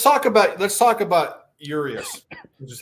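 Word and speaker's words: Urías: tomorrow so let's talk about let's talk about yurious which is how you say his name your eyes yeah yurious but whatever um i heard today and and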